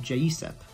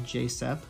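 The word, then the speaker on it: J.Seph: other one is um i'm gonna say it like the korean way which would be uh jay sip um sorry jay sepp which is kind of hard to say so in like the english terminology it's probably more so like jsep because it's spelled like almost like joseph but you don't have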